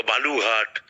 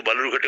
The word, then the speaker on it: বালুরঘাট: থেকে বেশি ভোট পড়েছে বালুরঘাটে, 72%। সেই বালুরঘাট যাকে বিজেপি সাধারণত বেলুর ঘাট বা বালুঘাট ইত্যাদি ভুল উচ্চারণে ডাকতে, যাকে সিদ্ধহস্ত, এবং ওই উচ্চারণটাকেই খুব সঙ্গত বলে মনে করে।